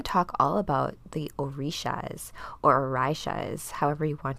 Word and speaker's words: Orisha: Tonight's talk, we are going to talk all about the Orishas or Orishas, however you want to pronounce it.